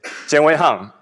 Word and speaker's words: Jian Weihang: U my name is Jen Hang and it's Chinese name and username is Jen and in Japanese maybe you pronounce Jang.